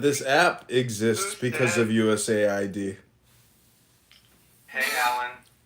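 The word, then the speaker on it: USAID: through the federal government you got to pronounce it us Aid because it sound it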